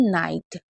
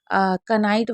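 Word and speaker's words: knight: ऐसे इसको हम क्या पढ़ेंगे? नाइट। इसको हम कनाइट वगैरह नहीं पढ़ेंगे क्योंकि इसमें के भी साइलेंट है और जी एच भी साइलेंट है।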